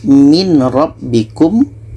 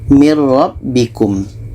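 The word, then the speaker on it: مِنْ رَبِّكُمْ: kita masukkan ke ro yang asalnya adalah min rbikum min rbikum tapi yang betul Bacanya adalah Nun ini kita masukkan ke ro mirbikum tidak ada dengung mirbikum seterusnya untuk contoh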